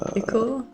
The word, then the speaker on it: ichor: I don't know what ichor means.